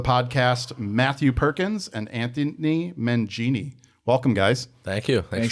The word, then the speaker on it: Menghini: of the games and said, have they been pronouncing it wrong on TV? 'Cause my parents have told me. Yeah, it's Menghini. Menghini.